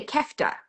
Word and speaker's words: kefta: He did a kefta a kefta. Am I pronouncing that correctly?